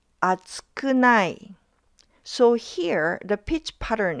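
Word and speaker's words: 厚くない: For group two, it's pronounced as atsukunai. atsukunai So, here the pitch pattern is different.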